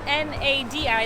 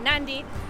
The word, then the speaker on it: Nadi: we're just pulling into nandi it's spelled n-a-d-i like Nadi but they pronounce it nandi and this is the